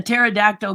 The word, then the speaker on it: pterodactyl: Why can't you hear a pterodactyl go to the bathroom? Hey! The P is silent.